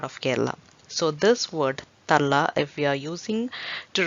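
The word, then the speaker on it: തള്ള: will be easy for you to learn the pronunciation. Kallan, kallan, kallan, kallan, which means thief. Kallan. Talla, talla.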